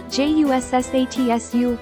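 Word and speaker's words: 十冊: Next, from the romanized hachi, hachi, drop the c, h, and I. For ju, if you were taught juu, drop the final u. If taught as ju, leave it as is. Then add the ssatsu you made earlier after that. It becomes hassatsu, 8冊 or jussatsu, 10冊 right?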